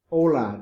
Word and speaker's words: hola: estas how are you hola don't pronounce the h clase repeat el saludo